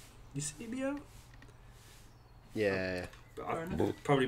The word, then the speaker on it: Eusebio: It's Eusebio. Eusebio. Yeah. But I probably butchered his name.